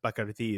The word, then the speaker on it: Bacardi: Bacardi is the way you pronounce it correctly.